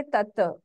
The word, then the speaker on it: तत्: तो यहाँ पे तत् है वो वर्ड, पर हम बोलेंगे तत्।